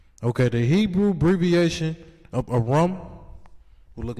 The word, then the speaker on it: Aram: Okay, the Hebrew abbreviation of Aram will look like this. I could, let me see. It's spelled more so like this.